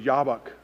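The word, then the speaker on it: Jabbok: name itself sounds brutal jab bach it would be pronounced in the hebrew yabak river the place of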